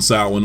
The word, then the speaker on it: Samhain: They also discover the word Sam Hain written in blood, which is apparently pronounced Samhain, thus tying these movies to the occult from now until the end of the Thorn trilogy.